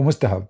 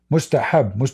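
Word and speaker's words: مستحب: Mustahab, not mustahab. You see, in those languages, they don't have certain letters. So when they try to speak in Arabic, their pronunciation will look so stupid.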